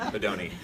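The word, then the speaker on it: Bodoni: That's how you say it, Bedoni.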